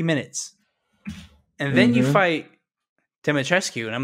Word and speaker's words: Dimitrescu: Dimitrescu. The U is silent, I believe. Thank you. Dimitrescu.